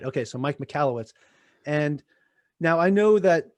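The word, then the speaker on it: Michalowicz: say it mike mikalowitz right okay so mike mikalowitz and now i know that this is something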